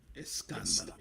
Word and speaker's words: Escándalo: That's how you pronounce it, J Dudes? I covered it first week. Escándalo.